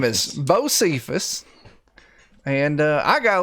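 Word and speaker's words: Bosephus: this traveler for me josephus how do you spell that b-o-s-e-p-h-u-s b-o-s what's the last part e-p-h-u-s my name is bo cephus and uh i got a little bit of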